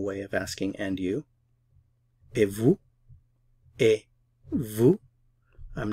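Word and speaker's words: et vous: of asking and you e Vu I'm not pronouncing the t e vu V I'm not pronouncing the S EV Vu a Vu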